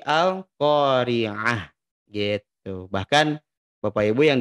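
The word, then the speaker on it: القارعة: khas sukun al-qariah ya Jadi bukan Al Al qoriatu tapi al-qariah yetu bahkan Bapak Ibu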